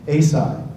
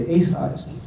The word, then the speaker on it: Asai: pronounce the family name Asai, and that's, if you go to Hood River, everybody knows the Asais. But the proper Japanese pronunciation of the name is Asai, and I would say